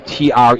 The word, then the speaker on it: Treme: everybody Welcome to the opening ceremony for TR t r m but it's pronounced TR it's not short for extreme it's